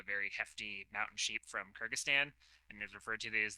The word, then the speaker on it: Kyrgyzstan: Or is it Kyrgyzstan? Yes. Kyrgyzstan.